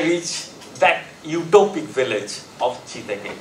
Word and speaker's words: Jidege: And so, I reached that utopic village of Chidege. It's spelled as Jidege, but this pronounced is Chidege.